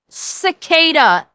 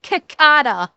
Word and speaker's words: cicada: It's pronounced cicada, not cakata.